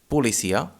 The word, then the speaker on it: policia: but we say utel another example with this sound can be the word pulisia the first the first syllable is a spell p o and it's a weak syllable so we say pu we do not say policia policia but we say policia then the two sounds